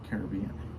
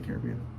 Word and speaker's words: Caribbean: Caribbean. Pirates of the Caribbean. Caribbean Colada. You guys decide how that's actually pronounced. Pirates of the Caribbean, not Pirates of the Caribbean. Caribbean. Caribbean Queen.